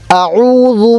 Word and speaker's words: أعوذ: আউ বলার সময় আমাদের ঠোঁটটা গোল হবে।